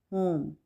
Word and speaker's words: whom: होम, वैसे तो डब्ल्यू की साउंड होती है वाह, लेकिन यहाँ पे हम होम, डब्ल्यू को साइलेंट करेंगे और प्रोनाउंस करेंगे होम, ठीक है। लिखने में हम WHOM लिखेंगे, लेकिन W को साइलेंट प्रोनाउंस नहीं करेंगे, तो इसलिए हम बोलेंगे होम।